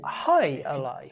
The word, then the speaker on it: Jai Alai: cigar city brewing um where they pronounced it hi alai hi alai if you